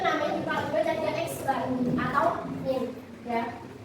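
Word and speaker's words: x̄: loh Nah itu namanya di jug car Dia X Bar atau Min ya bacanya X bar nah rumus data tunggalnya itu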